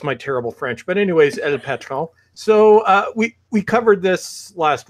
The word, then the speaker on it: El Patron: But now to our other friend, and I'm officially pronouncing your name from now on as El Patron. Perfect. I think you're saying it like it's French.